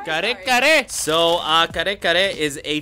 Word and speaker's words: kare kare: How do you pronounce this? Kari kari? Kari kari? Kare kare!